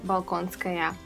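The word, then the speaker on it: Болконская: And yeah, that's right, but her Russian pronunciation of the name is going to be Yelizaveta, and her surname is Balkonskaya.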